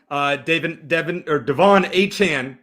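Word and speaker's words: De'Von Achane: Devon Achane, if I said it right. I always mispronounce that.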